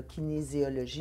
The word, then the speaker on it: kinésiologie: Je suis curieuse, Kevin, rapidement, parce que là, je l'ai bien prononcé, là, kinésiologie.